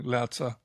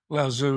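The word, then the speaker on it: Laozi: Lots of people say his name differently. Lza if you're Ellen Watts. Lauzu if you me um that's the Australian pronunciation.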